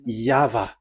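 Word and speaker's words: Yahweh: explanation but that is the phonms the pronunciation pronunciation is equal V. It is V. Y H VH. So it is Yava.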